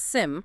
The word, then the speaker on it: SIEM: That's SIM, and it's pronounced SIM.